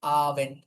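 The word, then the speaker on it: Abend: আবেন্ড কিন্তু উচ্চারণ হয় ডি না টি এর মতো। আবেন্ড।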